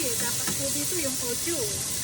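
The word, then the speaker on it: au jus: Dapat po dito yung audio. Audio, French word, but it's spelled by A-U-J-O-U.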